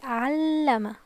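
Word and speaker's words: علّم: In the second one we will put stress on the L sound, so it will be Allama, Allama.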